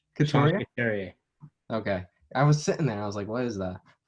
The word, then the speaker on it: Couturier: How do you pronounce his last name? Couturier.